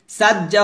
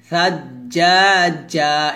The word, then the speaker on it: ثجاجا: সাজ্জা হবে না, সাজ, এখানে সাটা জিহ্বার আগা উপরে দাঁতের আগা লাগাবেন, পাতলা করে উচ্চারণ করবেন, সাজ্জাজা, এভাবে।